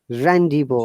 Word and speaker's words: rendezvous: The last N should be pronounced through the nose, like croissant, restaurant, rendezvous. Okay, the Rendezvous.